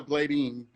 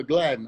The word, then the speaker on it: Gladine: Don't call her Gladine. All right. Is how many? Look. Gladine. Yeah, Gladden. Okay. Gladden. I know it's spelled a little different, but yes, it's Gladden. I don't think I've ever had anyone say it right, but that's okay.